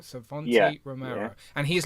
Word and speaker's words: Savanti Romero: How do you pronounce his name, Tanner? So it's Savanti Romero. Savanti Romero. Am I saying that right? Savanti Romero.